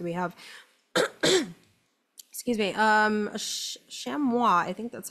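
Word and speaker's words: chamois: have excuse me um shamua I think that's how you say it French right the the the S is silent this is good um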